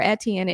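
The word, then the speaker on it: Etienne: list is uh Trevor etan and and people say stuff to me when I say his name like that but that is the correct pronunciation it is a French name yeah I don't know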